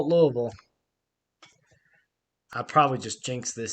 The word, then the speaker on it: Louisville: I'm supposed to say Louisville, that's how you say it here. There we go. We'll call it Louisville.